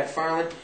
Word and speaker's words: MacFarlane: Now, does he Seth MacFarlane? Am I pronouncing his name properly? Yeah. MacFarlane.